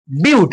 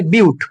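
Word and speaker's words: but: হচ্ছে চারটে কার্বনের ফ্যামিলি বিউট কেউ বাট বলবি না এটাকে বলে বিউট উচ্চারণ এরকম হয় এটার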